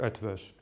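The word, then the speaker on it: Eötvös: the easiest mute and pronounce this like a German SCH so the pronunciation is something like a Jewish so he did this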